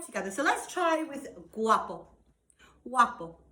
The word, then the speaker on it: guapo: so let's try with guapo Guapo so g-u-a-p-o very much pronounced a bit like a w kind of sound waffle so we have guapos